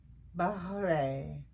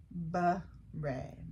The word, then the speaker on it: beret: Beret. Beret. Beret.